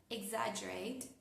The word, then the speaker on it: exaggerate: Ejemplo, las palabras exaggerate, exaggerate o la palabra suggest.